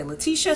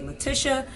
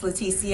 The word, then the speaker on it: Leticia: leticia some people say leticia some people say latisha but my dad named me and it's pronounced leticia i have the hispanic